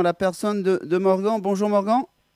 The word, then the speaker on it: Morgan: Voilà, on peut prononcer les deux, mais je vais dire Morgane. Il n'y a pas de e à Ok, la fin. C'est le prénom masculin de Morgane au féminin, mais Morgan.